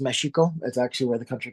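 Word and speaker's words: México: Mexico right um uh in Spanish name Meo really should pronounced mexiko that's actually where the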